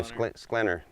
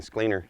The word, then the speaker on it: Sklinner: How do you say your last name? Sklinner. I keep saying Skleiner.